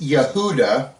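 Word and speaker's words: יהודה: way judah's name means praise in Hebrew is Yehuda and I like to point this out Yehuda is spelled yud he V dollet hey notice there's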